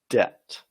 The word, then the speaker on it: debt: pronounce it bit okay you don't pronounce the B the B is silent so you say Det Det all right so it's